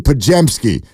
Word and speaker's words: Podziemski: Let's pronounce the man's name correctly. It's Brandon Podziemski, and he joins us next on Willie and Dibby.